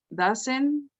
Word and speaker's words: doesn't: And try to pronounce the T at the end. Doesn't. Doesn't. There you go. Better. He doesn't use, she doesn't use. Well, now you're not pronouncing the N. Doesn't. Doesn't. There, perfect. Doesn't.